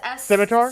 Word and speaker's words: scimitar: Okay, so I would like to take out my, how do you even pronounce that weapon? Rapier or It's scimitar?